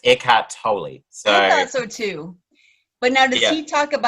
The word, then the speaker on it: Eckhart Tolle: or toy well see russell brandon the other day said eckhart tolle but i looked up before um before uh episode and it's eckhart tolle sorry so too but